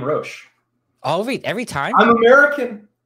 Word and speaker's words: Roche: You say my name, Roche. Every time? I'm American. It's Roche. I could call you Roche. So it is Roche with a hard CH into it? Yeah, buddy. Like the bug?